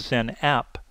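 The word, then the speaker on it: XenApp: virtualization track called the Zen app now all of their products that start with an X actually are pronounced with the letter Z in front the second main track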